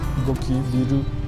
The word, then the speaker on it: 濃昼: トンネルを抜けると左側に濃いヒルと書いてゴキビルの地名表示があっ